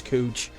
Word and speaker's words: Couch: downtown on second and cooch it's spelled couch it's cooch and spare me the